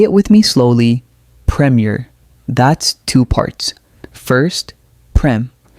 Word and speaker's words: Premier: When you practice Premiere, exaggerate the difference between the first strong syllable and the second weak one at first.